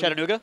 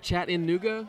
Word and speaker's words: Chattanooga: I've heard it like chat in Nuga several times. Chatting in Nuga. Just like Chatting One of my favorite pastimes. It's like chat and then like just another N that doesn't. It's not even in the word, and then Nuga after that.